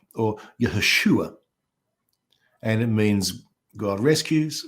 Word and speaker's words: Yeshua: name of Jesus Jesus in Hebrew is a Yeshua or yes Yeshua and it means god rescues or salvation and